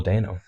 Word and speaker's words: Dano: The main at the moment is, well, it was a couple of months ago now, but Paul Dano.